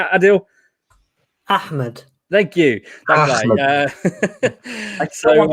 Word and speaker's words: Ahmed: Ahmed.